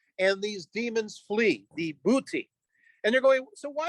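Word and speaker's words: Buiti: was attacked by those known as the booty uh we can we can phonetically spell b-u-i-t-i uh these are the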